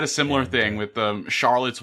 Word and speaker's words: Charlotte's: I had a similar thing with um Charlotte's Web. For a while, I thought it was Charlo's web.